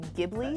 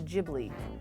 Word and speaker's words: Ghibli: always say it wrong because it's GH which to me should be gibli should be gibl to me but then everyone's like no it's jibli what is your favorite